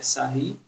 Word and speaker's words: Sarrus: Aqui está escrito Sarrus, mas é porque provavelmente ele é francês, né? A pronúncia é Sarri.